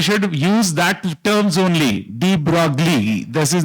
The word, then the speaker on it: de Broglie: D-E-B-R-O-G-L-I-E. It is never de Broglie. De Broglie. So you can check it on Google, whatever I have said is correct. So you should use that terms only. De Broglie.